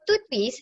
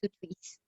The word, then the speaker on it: TTWISS: So to twist is actually TTWISS, but to pronounce it easier, okay, let's just call it to twist.